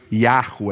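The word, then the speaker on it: Yahweh: do tetragrama Sagrado né que a gente pronunciaria alguma coisa como Yahoo é então quando Deus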